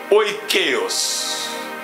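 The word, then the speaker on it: οἰκεῖος: Le concept de ces mots, famille, veut dire, écrivez O pour qu'on puisse prononcer, écrivez O, I, K, E, I, O et S. Est-ce que je vais trop vite? O, I, K, E, I, O, S. Oikeos.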